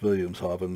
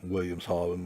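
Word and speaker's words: Wilhelmshaven: solvin by the way German know when you see W's in german it's pronounced with a B so it's Williams haben not Williams Holland like you'd think it would be but the sewing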